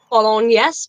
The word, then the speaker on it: Bolognese: Bolognese, bologna. How do you pronounce that?